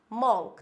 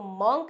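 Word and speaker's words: monk: मोंक क्या होता है मंक तो इसको मोंक ना बोल के हम बोलेंगे इट्स मंक क्या होता है मंक नॉट मंक आप लोगों को बहुत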